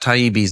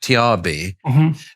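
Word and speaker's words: Taibbi: he made the mistake he couldn't pronounce Matt taibi's name he kept on saying Matt trb and then he started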